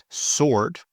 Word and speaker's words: sword: Sword.